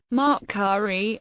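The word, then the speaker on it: Maatkare: Maat-Kari, truth, Maat, is the Ka of Re.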